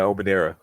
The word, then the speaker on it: Omonira: How you pronounce Omonira? Yeah, Omonira.